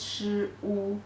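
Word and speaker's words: 束: means tie up or a bunch of the pronunciation is Shu Shu they came from this shape you tie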